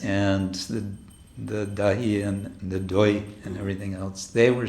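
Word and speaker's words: দই: So it was a time for dahi, or dahi. How do you say in Bengali? Dahi. Doi, yes.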